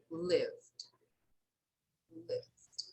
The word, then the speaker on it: lived: Okay, so we never pronounce this vowel here, this final E, okay? We usually pronounce only the final D, but we don't pronounce the vowel. So here we say loved, loved, okay? It's very subtle. Here, lived, lived, okay? So it's very subtle. It's very smooth. We don't say the vowel E, okay?